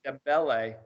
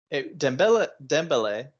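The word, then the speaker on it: Dembélé: Dembele adds another tally to his assist line this season.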